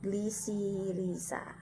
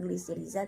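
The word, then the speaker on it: Glycyrrhiza: Nah, oleum citri, kemudian glisirisa, bukan glisiriza tapi glisirisa.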